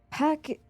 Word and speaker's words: PACC: Pack is spelled PACC, and it's an acronym for Potential Advanced Crisis Champions.